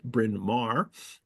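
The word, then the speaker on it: Bryn Mawr: I'm from Philadelphia so I know how to pronounce brinar uh an avid sherlockian Mary has been invested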